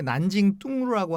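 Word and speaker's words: 南京东路: 그 중국어 발음으로는 이제 난징 뚱루라고 하는데 어떻게 보면 보행가입니다.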